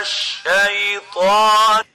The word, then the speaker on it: الشيطان: the sheen, من الشيطان, or totally replacing the sheen with a sin, like saying من الشيطان. In both cases, it's wrong, and the right way of pronouncing it is like this. من الشيطان من الشيطان. Make sure not to replace the sheen with a sin or mix it with it.